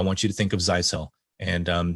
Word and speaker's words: Zyxel: you to think of zysel and um that's pronounced zai cell like you sell zeiss cell and so think of